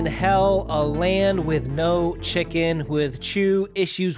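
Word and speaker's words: Chickyn: just with a y c h i c k y n which would just be pronounced chicken as well well it may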